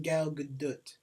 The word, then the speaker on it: Gal Gadot: You know the actual way to pronounce her name is Gal Gadot. Gal Gadot. Like, it's like... You gotta pronounce the T.